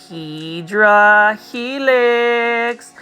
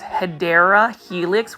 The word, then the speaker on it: Hedera helix: I also mispronounce Hedera Helix, which is actually the correct way to say English ivy.